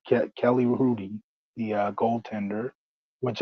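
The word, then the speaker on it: Kelly Hrudey: course her uh Rudy with an H the H is silent ke Kelly Rudy the uh go tender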